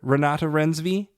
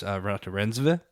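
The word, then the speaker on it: Renate Reinsve: I've heard Ranata Renvi. Uh very pretty name to say. She has corrected that it is Ratat Renva is the correct way to say her last name.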